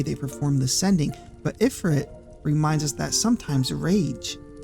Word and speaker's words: ifrit: But ifrit reminds us that sometimes rage is the only thing left when faith fails. In Arabian mythology, ifrit, pronounced ephrit, I'm pretty sure, is the name given to a class of jin.